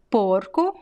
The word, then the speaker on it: porco: which is interesting right so you see the usually feminine words they tend to have this open ah and masculine words be closed oh now let's talk about